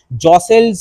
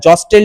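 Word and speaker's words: jostle: যারা রাজা হতে চেয়েছিল, জসেলস অ্যামং দেমসেলস, নেক্সট পেজে চলে এসো, তারা নিজেদের মধ্যে ধাক্কাধাক্কি শুরু করে দিল। এই যে গোলাপি কালিতে শব্দটা আছে জসেল, টিটার উচ্চারণ করবে না, জস্টেল বলবে না, জসেল অ্যামং দেমসেলস, নিজেদের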